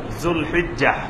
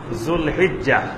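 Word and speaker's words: ذو الحجة: পরশুদিন থেকে শুরু হবে জুলহিজ্জা আমাদের দেশে বাংলায় লেখা হয় জিলকদ জিলহজ এভাবে লেখা হয় কিন্তু এটার সঠিক উচ্চারণ হবে জুলকা জুলহিজ্জা জুলহিজ্জা মানে হজের মাস হিজ্জা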